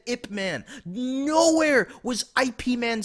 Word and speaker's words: Ip Man: yes, but when they say it in Cantonese, it's Ip Man.